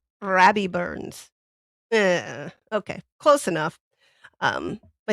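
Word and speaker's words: Rabbie Burns: So, this is Robbie Burns or Robert Burns or wait, I didn't say it right. Okay, I got to I got to pull out my inner Scott here. Rabby Burns.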